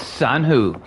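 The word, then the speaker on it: Sanhua: I even learned how to pronounce her name, Marshmallow. I may forget later, but right now it's Sanhoo. Also, also I unlocked this character yesterday and I like her because never mind.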